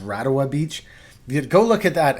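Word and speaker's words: Rarawa: Beach is your favorite yeah rwa Beach it's pronounced radawa Beach go look at that and great exhibition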